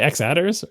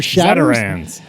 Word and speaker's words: xattrs: I say X attrs or extended attributes. Xattrs. You can use xattrs. Or shadders. And maybe it's shadders.